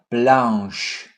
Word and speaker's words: blanche: CH. This is pronounced sh. Une lampe blanche. Les chaises. Let's repeat. Blanche. Chaise.